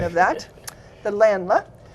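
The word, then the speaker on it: Ländler: that have been practicing a dance called the Landler. Thank you, Ross Halverson, the German club president, or the German club, the high school German teacher who's taught me the correct pronunciation of that, the Landler.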